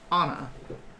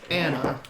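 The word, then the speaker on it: Ana: ago named honor and that's anna a-n-a not anna all right a-n-n-a and you can like once you learn that like once you have that double consonants you pronounce both of them you flow into one and then you pick up on the other and like otter otter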